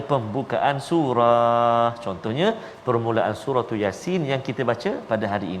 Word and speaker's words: Yasin: Jadi kena hati-hati. Yasin. Jangan ya tu panjang. Yasin. Salah. Ya tu 2 harakat saja. Jangan 2 rakaat. Yasin.